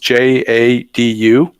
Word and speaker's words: Jadu: It's spelled the way it's pronounced, Jadu, and it's free.